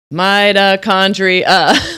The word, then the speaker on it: mitochondria: Topic today: mitochondria. 5 syllables. Mitochondria.